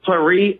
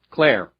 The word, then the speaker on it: Claire: Okay, your beautiful wife, do you call her Clary or Claire? Claire.